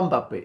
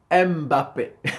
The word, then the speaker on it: Mbappé: langues mais vous voyez les Français par exemple ils disent pas Mbappé ils disent m Mbappé ils prononce le M voyz les Européens ils